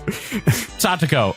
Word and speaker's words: Satoko: Satoko.